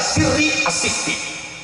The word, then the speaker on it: Sari As-Saqati: Kalau santri Babakan Ciwaringin bacanya Sirri As-Sikti, kalau saya Sari As-Saqati.